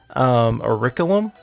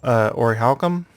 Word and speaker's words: orichalcum: it's pronounced it well I grew up pronouncing it or Rick ilim but that doesn't pronounce a second see and that's not the way I've heard it pronounced about most often so I'm gonna say ork out orichalcum which doesn't renounce the first see so uh it's one